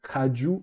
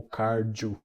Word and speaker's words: Kagyu: Em relação ao nome, pode-se falar Kagyu, Kargyu, ou, se for no dialeto do Kan, o Gyu vira Ju, então Kaju ou Karju.